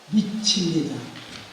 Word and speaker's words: 미추: 우선 그 역사적인 관점에서 말씀드리고자 미추 원래는 그 미초라는 말로 성서에 나눠져 있습니다만은 알고 보니까 3세기의 발음이 미치입니다.